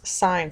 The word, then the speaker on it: sine: going to talk about is pronounced as sign so you see it up here as sign s i n e